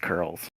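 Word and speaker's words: Coeurl: Um, it's spelled very strangely, but the the word is pronounced curls.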